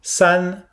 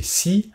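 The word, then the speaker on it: 四: Alors attention à ne pas prononcer si, le i derrière le s se prononce comme un e fermé, alors que dans le 2 on a un e ouvert, r, là c'est un e fermé, s, un petit e, un e, s.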